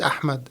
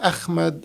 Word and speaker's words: Ahmed: saying my name is Ahmed and then the people the problem is that the H in in Arabic is is is pronounced differently than the H in English.